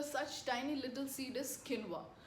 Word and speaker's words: quinoa: And one very popular such tiny little seed is quinoa. Quinoa, pronounced in one way and spelled in another, is full of nutrition.